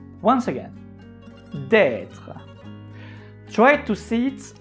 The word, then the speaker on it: d'être: Normally, you do not pronounce the E at the end of être.